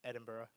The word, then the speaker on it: Edinburgh: Edinburgh Yeah, is it's Edinburgh.